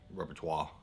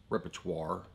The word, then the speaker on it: repertoire: your repertoire that you repertoire i'll say that wrong repertoire repertoire that's how you say it but you can have